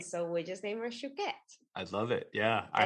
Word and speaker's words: Chouquette: People say Chouette, like they just can't. And it, so Chouquette is a French pastry.